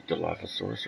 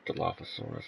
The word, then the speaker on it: Dilophosaurus: And I'm saying it that way because I think that's the actual pronunciation. I looked it up. I think Jurassic Park, the movie, has led us to believe that it's pronounced Dilophosaurus this whole time. But I'm pretty sure it's Dilophosaurus.